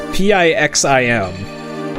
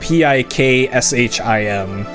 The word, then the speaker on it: Pixim: So you must have had very short sleep, unless you're talking about like glitchless or okay, so right here, Pixim, so not Pikshim.